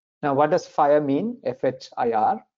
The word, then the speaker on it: FHIR: F-H-I-R, you pronounce it FHIR.